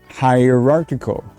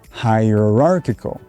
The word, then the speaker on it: hierarchical: in school okay chocolate hierarchical arc arc so in this case arc is pronounced arc hierarchical also notice hierarchical i'm putting a bit more stress on that arc there and that word stress